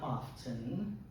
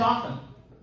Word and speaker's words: often: And the last thing is people who pronounce the letter T in the word often. It's not often. It's often. We're not in England.